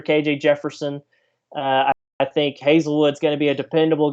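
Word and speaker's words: Haselwood: on this side by the way uh so hazel wood is is spelled hasselwood but it's pronounced hazelwood that is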